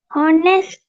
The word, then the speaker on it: honest: Honest. Honest. Silent letter.